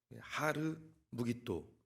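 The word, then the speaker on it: הר מגידו: 아마겟돈은 하르 무깃도, 히브리어로 하르라는 단어와 무깃도라는 단어가 합쳐진 단어입니다. 하르 무깃도를 이제 헬라어식으로 발음하면 아마겟돈입니다.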